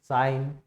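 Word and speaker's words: sign: यहाँ पे देखोगे सारे वर्ड्स के अंदर उनके स्पेलिंग के अंदर जी लेटर दे रखा है, लेकिन जब उनको बोला जा रहा है तो उस समय हम जी का इस्तेमाल नहीं कर रहे हैं, ठीक है।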